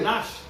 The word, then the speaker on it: gnashed: They gnashed. The G is silent. They gnashed. Right?